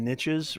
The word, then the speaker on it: niche: There's a saying, the riches are in the niches, right? And it's actually pronounced niche, but um, I would try to, depending on, and I'm just taking this as a general question, Right.